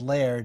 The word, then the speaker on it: Laird: The name is actually pronounced Laird. It's Laird. a Scottish term.